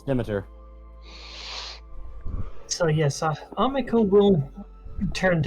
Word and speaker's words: Demeter: Shit, that's how that's pronounced? I thought it was Demeter. No, it's Demeter.